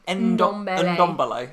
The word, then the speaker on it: Ndombele: Whereas now with the new Dombele having arrived. How do you say this guy's name? Ndombele.